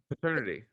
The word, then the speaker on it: Pet-ernity: Is that how you would pronounce that? Pet-ernity? Paternity. Paternity. But they put the dash in there, so you really have to say, wink, wink, pat.